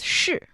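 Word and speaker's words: 式: And the style is shì. Shì. Shì. Same pronunciation with is, am, are but a different character.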